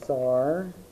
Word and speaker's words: Tsar: we're going to put Tsar, and I'm going to go ahead and put a box around that. And it's spelled kind of funny. You don't say the C.